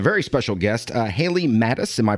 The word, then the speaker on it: Mattes: here with a very special guest uh Haley Mattis am I pronouncing that last name correctly Haley Y yes